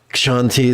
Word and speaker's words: Kshanti: Kshanti the ascetic. Yes, I know. There should be an H here. Ksh is a sound you make when your boot steps in the snow.